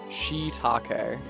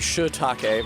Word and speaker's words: shiitake: It was wise to spell it with 2 I's so that Americans don't say shit. Although it's hard for us not to say shiitake. It's just like the shi in shiitake is unstressed, and in American English